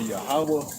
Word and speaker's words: Yahweh: Okay, yeah, that's Yahweh. That's Yahweh. Yahweh. Okay, so You gotta pronounce the word right.